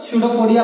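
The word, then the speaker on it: pseudopodia: इसको इसका spelling start होता है किस से, लेकिन पढ़ते हैं क्या हम लोग, स्यूडोपोडिया पढ़ते हैं।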